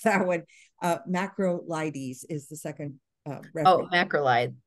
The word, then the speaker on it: macrolides: patient is allergic to bactrim and macro life macrolytes did I say that right right nitrofurantoin or macrobed or Minocycline well first bactrim I can pronounce that one uh macrolides is the second uh macrolide um yeah yep